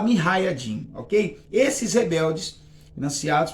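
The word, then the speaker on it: mujahidin: que chamam minha raiding se escreve muja e de mim mas se fala me hayatim Ok esses Rebeldes nasce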